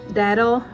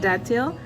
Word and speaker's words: datil: This one would be almost like a habanero but with a fruity taste, the datil pepper. I used to pronounce it datil, but I guess it's datil, and it produces in abundance.